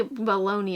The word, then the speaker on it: bologna: That's really, bologna is spelled like bologna, but it's really bologna.